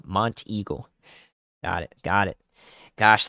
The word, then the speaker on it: Monteagle: one I'll say Monty Monty Eagle thank you Montego Monteagle got it got it gosh the pronunciation guys it's the hardest part of this